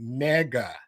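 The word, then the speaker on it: 니가: But then but in Korea there's a word like how we say you in Korea you pronounce it nega nega ne g a ne ga.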